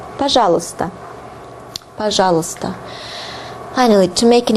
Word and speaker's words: пожалуйста: Пожалуйста. Пожалуйста. And pay attention to the pronunciation. It differs a lot from the way it is written.